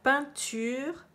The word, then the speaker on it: peinture: La peinture, il y a un E à la fin qu'on n'entend pas, puisque c'est féminin.